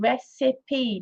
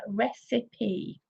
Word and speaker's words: recipe: foreign this is a recipe notice the pronunciation recipe there's three syllables here recipe number four proof of